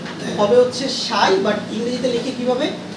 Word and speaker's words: psi: এটাকে আমরা বলে থাকি সাই। কি বলে থাকি এটাকে? সাই। উচ্চারণটা হবে হচ্ছে সাই, বাট ইংরেজিতে লিখে কিভাবে? PSI এভাবে লিখে, বাট উচ্চারণটা হবে সাই।